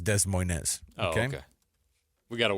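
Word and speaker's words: Des Moines: to be traveling to De MO is that what you're telling me uh I think it's pronounced Dez Moz okay okay we got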